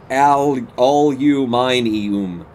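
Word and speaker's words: aluminium: It's spelled and pronounced all-you-mine-e-um. I don't get it.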